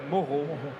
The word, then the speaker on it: Moro: banca, é ele, Diego Moro. Falei, pronunciei correta, Morro.